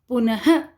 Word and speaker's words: पुनः: प्रातः, पुनः, इसके अंत में अह की आवाज़ आती है, तो ये होता है विसर्ग।